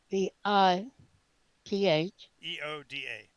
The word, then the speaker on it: Vitheoda: Okay, spell that. Vitheoda, Vith. Vioth. No, Vith. Vith. Eoda.